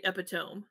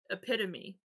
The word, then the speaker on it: epitome: the word epitome i've heard people say epitome and until you've heard it pronounced out loud it's like oh it's epitome then it's it's it's harder to do that